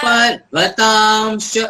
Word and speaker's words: पर्वतांश्च: पर्वतांश्च वनस्पतिं सचतां पर्वतांश्च पर्वतांश्च। यहाँ पे जो अनुस्वारम का उच्चारण है ये एंटायर लाइन का एक कोर अनुस्वारम है। यहाँ पे उसका पूर्ण उच्चारण हमें करना है। पर्वतांश्च पर्वतांश्च।